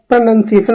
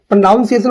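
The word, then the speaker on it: pronunciation: जिसका इसका मतलब हो जाएगा ऑप्शन नंबर ए प्रोनंसिएशन बोलते हैं इसको। प्रोनाउंसिएशन बोलोगे तो गलत हो जाएगा आपका।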